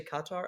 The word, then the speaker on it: Qatar: Apparently, you're supposed to say Qatar.